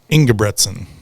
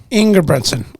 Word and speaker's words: Engebretsen: Engebretsen. Engebretsen. Okay. There's no Okay. L. Everybody wants to put an L in it, but there's no L.